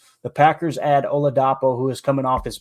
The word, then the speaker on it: Oladapo: We know it's Oladapo for the last name.